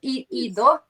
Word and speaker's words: Ido: Um, I already asked the name, how should I pronounce? So you said not Ido, Ido, right? Yeah, it's easy. Yeah, It's it's only easy. 3 letters, so IDO.